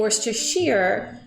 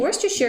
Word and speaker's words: Worcestershire: a common ingredient and during the stream I think I was saying Worcestershire because I find at least in our country depending upon where you live different words can take on a little bit different um you know uh right and so in an event later I'm watching that I'm like why am I saying Worcestershire because usually I say Worcestershire and that little difference from sheer to sure you know can really